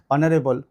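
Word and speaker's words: honourable: তাহলে এটার উচ্চারণ হবে অনেস্ট, এটার উচ্চারণ হবে আওয়ার। একই রকমভাবে অনারেবল।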